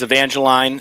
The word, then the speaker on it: Evangeline: to try the now I don't know if I'm pronouncing this right you have to clarify is it Evangeline 12 Linnell New England triple yeah so yes this is Evangeline it's the 12th in